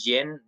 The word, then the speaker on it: Djinn: no, it's not DJIN. It says Jin, Jin. There's no D in the beginning.